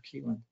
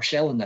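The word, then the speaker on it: Kielland: So it was 123 people killed on the Alexander Keeland, or Shelland, I think is the correct way of pronouncing it.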